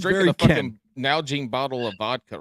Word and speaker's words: Nalgene: This man just said Najaline.